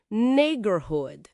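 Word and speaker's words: neighborhood: Nigorhood, o GA é mudo, né?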